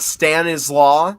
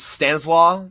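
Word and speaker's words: Stanisław: Apparently, it's not Stanislaw. It's like one word. It's Stanislaw, you know, or like within the Polish pronunci pronunciation.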